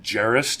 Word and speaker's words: Gerris: WJ s corp calm ger r is you can pronounce it Jerris - because i love